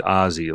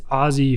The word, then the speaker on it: Aussie: So is he like, his name's Ozzy, like Ozzy Osbourne? No. So yeah, a lot of people think that, but it's Aussie for Australian Aussie because my wife and her kids are Australian.